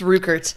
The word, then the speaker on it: Ruckert: Jake Ruckert. Ruckert. Yes. Oh, I've been saying it wrong all these years. Yep, it's Ruckert.